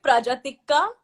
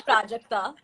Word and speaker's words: Prajakta: He'll call me Prajatikka, but he can't say Prajakta.